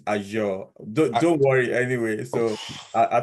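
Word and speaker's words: Azure: get this one the the pronunciation is aure don't worry anyway so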